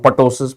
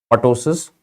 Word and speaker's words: ptosis: First, you have to remember that is not called ptosis, my friends. It is not called ptosis. This is ptosis. The P is silent.